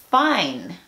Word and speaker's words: fine: La E le dice a la I que diga su nombre. Y se pronunciaría entonces fine.